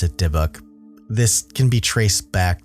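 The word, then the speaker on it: dybbuk: the word diuk which you would think it's dauk but I looked it up people pronounce it deok this can be traced back to Jewish folklore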